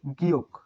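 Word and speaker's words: 기역: তাহলে এটি 7 এর উচ্চারণ হবে গিয়ক, গিয়ক, গিয়ক। বর্ণের উচ্চারণ, এই 7 বর্ণের উচ্চারণ গিয়ক। গিয়ক প্রথম স্টেপে খ, প্রথম স্টেপে উচ্চারিত হয় খ, মাঝে হয় গ, আর নিচে হয় ক, নিচে হয় ক, নিচে হয় ক।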